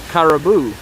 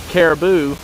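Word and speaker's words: karibu: one of my co-workers caraboo which is spelled like you know the word caribou except with a k um caribou means thank you and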